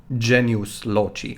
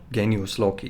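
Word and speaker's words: genius loci: of the well and genius lochi or genius Loki depending on your preferred pronunciation while some crinas lean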